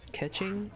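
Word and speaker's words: Keqing: I'm assuming it's pronounced Ketching, because usually, like in, I'm assuming this is a Chinese game, because yeah, if it is, usually Q is pronounced like with a CH.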